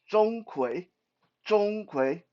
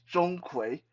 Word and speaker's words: Zhong Kui: door the first one uh his name is Zhong kui uh you don't need to really remember their name unless you wanted Zhong it's spelled Zed o-n-g-k-w-a-y Zhong kui don't worry if you see him you will